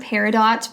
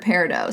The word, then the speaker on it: peridot: how you say it i've heard peridot but i also heard peridot so i'm going to say peridot because it sounds really fancy um and this is